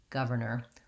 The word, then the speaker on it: governor: tight back american arm but it's unstressed so you're not going to be saying governor with a strong r it's going to be light and unstressed governor or governor once i